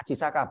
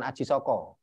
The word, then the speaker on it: Ajisaka: umum mengenainya adalah Ajisaka bacanya Ajisaka bukan Aji Soko karena sastra Jawa itu mulai mengenal vokal itu setelah abad 15 Nah setelah itu ada